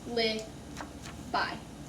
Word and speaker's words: alibi: The last letter is a long I sound, but everything else is exactly how it's spelled. A-li-bi. alibi.